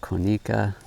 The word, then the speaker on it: Konica: inherited his camera, old Konica. I hear some people pronounce it Konica, auto reflex T.